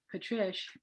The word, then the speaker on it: Patrish: So I'll give you the tip. Patrish rhymes with delish.